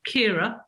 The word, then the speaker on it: Ciara: So on this particular day, it was February the 9th, and it was Storm Ciara, or Kira, depending on how you say it, which had hit England on that particular day.